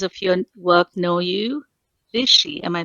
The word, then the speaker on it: Bisshie: or as readers of your work know you vishy am I pronouncing that right you are pronouncing that right